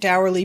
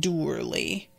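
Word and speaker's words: dourly: D like sour yeah according to this it's dur like like I closed the door so it's like door I'm saying door with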